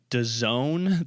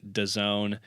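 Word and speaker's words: DAZN: much and that is a streaming company called does own that that's how they're pronouncing it but if you read it in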